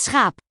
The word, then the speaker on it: schaap: Het schaap. CH is a g, similar to the G sound.